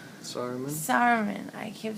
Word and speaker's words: Saruman: Saruman? Saruman. I keep saying, I want to say Samaron. That's not it. Saruman.